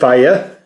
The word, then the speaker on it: Fiyaberry: And what this is from Charman, it is the Fiyaberry hot sauce. Or, I guess you could pronounce it Faya. More like fire.